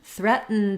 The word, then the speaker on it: threatened: talking about um written threatened does the same thing it has a stop T and then a syllabic n and then I'm going